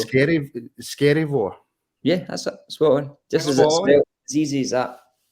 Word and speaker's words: Skerryvore: out yeah it's scary scary War yeah as easy as that that's not pronounced scary and it sounds like it's scary I'm good man I'm